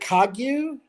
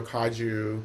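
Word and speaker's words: Kagyu: loud u to somebody that knows how it's pronounced. So, is it Kaguyu? Is that correct? Yeah, you got kagu or kaju, but I say is there anything I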